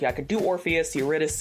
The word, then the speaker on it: Eurydice: It's Greek, so it's not pronounced how you think it should be. Eurydice, it's Eurydice.